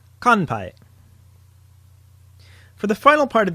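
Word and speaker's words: 乾杯: And in context, here is the word for cheers in Japanese, which uses the nasal sound: kanpai.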